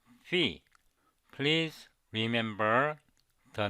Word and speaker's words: phi: letter v not Phi I pronounce this Greek symbol fee please remember the names